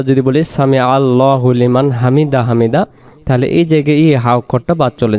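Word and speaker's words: حمده: বলার পরে আমরা কি করব সামি আল্লাহু লিমান হামিদাহ এখানে আমরা যদি বলি সামি আল্লাহু লিমান হামিদা হামিদা তাহলে এই জায়গায় হাকটা চলে যাচ্ছে।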